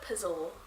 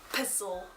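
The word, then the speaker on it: Pessl: Neverworld Wake by Marisha Pizzle. I googled how to pronounce her name and it literally just spelled her name out. Like P-E-S-S-L. But Pizzle is how I'm gonna pronounce it.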